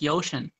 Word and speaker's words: ocean: Atlantic Ocean. Atlantic. Atlantic is fine. Ocean. You're putting a Y in front of it.